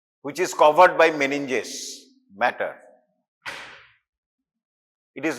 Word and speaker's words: mater: is covered by meninges matter. It is not, the pronunciation is not M-A-T-T-E-R, it is the M-A-T-E-R, matter means mother.